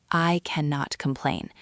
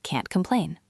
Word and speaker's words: can't complain: It is not I cannot complain. It is can't complain. You almost swallow the tea.